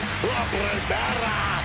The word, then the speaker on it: La Primera: You need to roll your R's a little bit on that, man. La Primera.